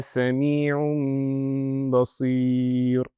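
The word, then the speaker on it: سميع بصير: So, the correct way to pronounce this will be Innal-laha samee'un baseer. So, I will not pronounce the noon sakinah. It will turn into a meme sakinah.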